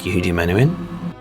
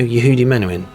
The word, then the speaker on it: Yehudi Menuhin: I was asking her do you know the violinist Yudi Manuin? She said who? I said you know Yehudi Manowin. Who menuin? Ahin. Oh yes. So there you go. That's how the Israelis pronounce his name.